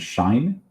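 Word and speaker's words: sinh: So the hyperbolic functions, we pronounce these as kosh and shine um or hyperbolic cosine and hyperbolic sign.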